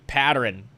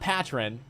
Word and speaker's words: pattern: P-A-T-T-E-R-N. Pattern. Pattern pronunciation. I can say that right. Pattern. Turn. Ah, pattern. Pattern. It's not patron.